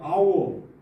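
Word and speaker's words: hour: 아워. 어 아워. H 발음이 묵음이 되어서 아오. 호라 영어로 할 때에는이 H 발음 호 발음이 없어지고 아어가 돼 버렸죠.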